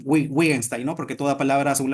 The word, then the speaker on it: Wittgenstein: Por ejemplo, en efecto, Wittgenstein, por ejemplo, se pronuncia Wittgenstein en alemán, pero en español, en realidad, por ejemplo, no estaría incorrecto, no es incorrecto decir Wittgenstein, ¿no?